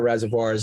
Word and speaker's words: reservoir: say it rested tool like a reservation but Reservoir like film Noir Reservoir say boy it might be that